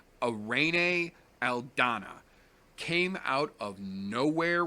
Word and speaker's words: Irene: me insane but that aside arraign a aldana it's spelled ir en e she is a Mexican fighter it is pronounced arraigning she has said said it many many many